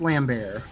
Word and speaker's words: Lambert: that his name yeah i believe it's pronounced lamb bear well like [ __